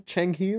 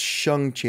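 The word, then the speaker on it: Shang-Chi: mcguire what's that one changi or something or actually you know it's pronounced shangchi i believe that's been getting a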